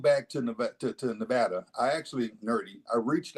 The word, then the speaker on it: Nevada: the way I come from a state where pronunciation matters it's Nevada not Nevada Nevada you might get upcharged and it ain't